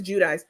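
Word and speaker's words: Giudice: Jersey one Teresa judis or however she pronounces her name depends on the day she's GNA said judis Jud jichi but it's Teresa judis she um just came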